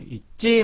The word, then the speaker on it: 잊지: 그 다음에 잊지 마세요. 이 때문에 지가 찌가 됩니다.